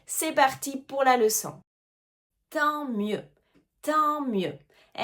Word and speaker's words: tant mieux: Tant mieux. Tant mieux. Et attention encore une fois aux lettres qu'on ne prononce pas.